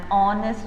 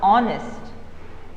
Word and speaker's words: honest: yeah because you know h happens to be silent isn't it h happens to be